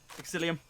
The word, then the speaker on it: Exillium: one of the teams are with very late psyllium did I say it right that time yes